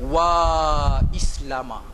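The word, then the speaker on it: وا إسلاما: Nah, slogan yang direka oleh Zubaidah, Wa Islama. Wa Islama. Ejaan dia waw alif, wa alif sim lam alif mim alif. Wa baca panjang.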